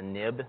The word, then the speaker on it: xib: the view controller so this xib file is pronounced a nib that's a uh that's